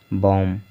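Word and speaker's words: balm: ठीक है, जैसे देखिए काल्म नहीं पढ़ रहे हैं हम, इसको कॉम पढ़ रहे हैं, कॉम, बॉम, पॉम, आमंड, सेमन, यानी कि सभी वर्ड में यल का उच्चारण नहीं हो रहा है, यल साइलेंट है।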